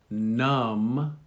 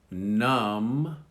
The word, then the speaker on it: numb: This is the silent B, and notice they come after the M. So we have comb, You comb your hair. Comb. Numb. Numb.